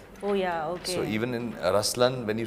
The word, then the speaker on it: Ruslaan: yeah so even in raslan when you say raslan also means the lion it's the attitude of but the right pronunciation is rlan okay there is so